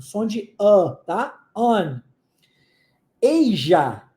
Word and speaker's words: Asia: de A tá an eija é um um um continente que se pronuncia o s com som de J tá então eij eij